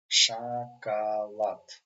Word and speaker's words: шоколад: Шоколад. Again, because we have the accent on the last syllable, this letter pronounced like A.